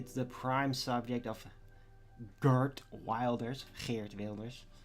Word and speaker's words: Geert Wilders: It's the prime subject of Geert Wilders, as you actually pronounce it, which seems to be the most impossible thing in the world for the typical American to do. They'll say something like Geert Wilders.